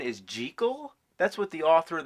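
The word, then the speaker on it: Jekyll: You know that the proper pronunciation is gel?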